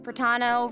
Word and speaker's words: Pratano: Hey everyone, I'm Pratano, rhymes with Capitano, the voice of Child's Really?